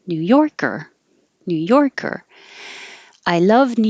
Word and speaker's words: New Yorker: And same for the person. New Yorker.